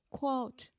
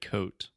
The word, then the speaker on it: quote: quote okay let's just stop really quick quote quote quote quote Yeah first you just completely said coat quote Alexia got a